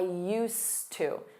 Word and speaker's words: used to: Notice that pronunciation, I used to.